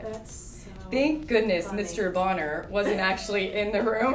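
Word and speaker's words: Bohner: It's Bonner.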